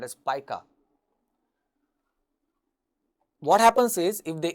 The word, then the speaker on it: pica: an interesting condition it is referred to as pica that's how it's pronounced pronounced pica when some persons may have the tendency to